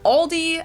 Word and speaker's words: Aldi: for very low prices in English people usually pronounce this Aldi I think I've also heard Aldi before but I think most people say Aldi or they also sometimes add an s that isn't there in the end and say alies in